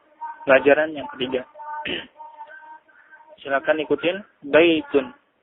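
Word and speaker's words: بيتٌ: Ini kita bisa bedakan baitun dengan al-baitu. Tetapi yang perlu diperhatikan pemirsa bahwa ketika tidak ada alif lam, maka cara bacanya adalah baitun. Tun, baitun, domatain di akhir kata.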